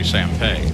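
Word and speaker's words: Sampey: And just to explain it, while it's spelled S-A-M-P-E-Y, it's really Sampay.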